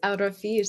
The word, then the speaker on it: Alrafish: Yes, Alrafish.